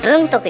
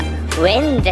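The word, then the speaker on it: 文徳: 文徳、文徳じゃないんだ、ウェンデって読むんだ、ウェン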